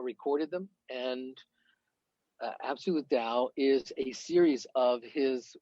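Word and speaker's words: Tao: lot as well absolute do you pronounce it tau or down um i pronounce it dao dao absolute dao talks on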